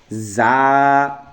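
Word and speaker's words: ز: রাল, রাল, র, র, জা। এই র হরফটা মোটা, এর জন্য র উচ্চারণের সময় মোটা করে র, র এটা মোটা হরফ। জা এটা শক্ত হরফ, জা শক্তভাবে, জা, র, জা।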